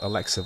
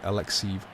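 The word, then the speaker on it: Alekseev: I found out I used one called Alexiv, I think. A-L-L. So A-L-E-K-S-E-E-V. Alexiv. That's how it's spelled.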